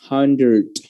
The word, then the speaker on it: hundred: jadi agak Lex ada letupan nya ya Android hundred I have one hundred one hundred person one